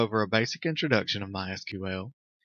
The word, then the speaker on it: MySQL: As you can tell, I've been calling it MySQL. That is the correct pronunciation. However, it is also commonly called MySQL.